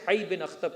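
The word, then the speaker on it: حيي بن أخطب: का जो हेड था मैंने प्रोनाउंस किया था इसे हई बिन अख्तब के नाम से। बाज़ जगहों पर मिलता है होयई बिन अख्तब।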